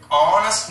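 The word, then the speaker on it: honest: അതേപോലെ അവർ, ഓണസ്റ്റ് മാൻ, ഇവയുടെ രണ്ടിന്റെയും ആദ്യ അക്ഷരം എച്ച് ആണെങ്കിലും ഈ രണ്ട് വാക്കുകളിലും എച്ച് നമ്മൾ പ്രനൗൺസ് ചെയ്യുന്നില്ല, ഉച്ചരിക്കുന്നില്ല.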